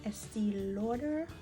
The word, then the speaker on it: Estée Lauder: now i'm going to go in with the estee lauder that's how you pronounce it and the clinique is clinique